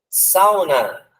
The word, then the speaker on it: sauna: Sauna. Olha só, tem a palavra sauna. Não tem acento, sauna. A palavra saúde, saúde, sauna, ele tem uma diferença de pronúncia. Então, saúde tem acento, sauna, não.